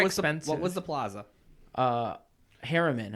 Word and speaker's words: Harriman: what was the plaza Harriman I said it wrong I said Hartman's Harriman h EI r RI